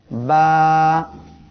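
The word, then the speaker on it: ب: সবাই আমার সাথে উচ্চারণ করেন, বা। প্রিয় দর্শক শ্রোতা, বা অক্ষরটি ঠোঁটের ভিজা অংশ হইতে উচ্চারিত হয়। 2 ঠোঁট এর ভিজা অংশ অর্থাৎ এই পাশ দিয়ে উচ্চারণ হবে।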